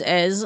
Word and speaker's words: Èze: Ease, as. Not too bad. So as is spelled E-Z-E.